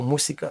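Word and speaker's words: música: Наприклад, слово мусика. Зверніть увагу, немає звука з, не музика, мусика.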